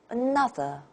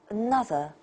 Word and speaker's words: another: a very familiar word it's not easy to pronounce you do not say or NASA that's Chinese English way is another another so this stressed syllable ah na stands out next geography geography